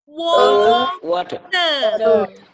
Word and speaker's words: water: Ini bacanya adalah glass panjang of Water. Nah, karena dia British, maka dia nggak dibaca R-nya. Jadi ini British nih, karena R-nya ditinggal kan.